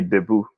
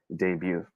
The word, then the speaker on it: debut: But we Filipinos say debut. All right? Punta ka ba sa debut niya? Well, that's okay. That's okay. But the proper way of saying it is debut.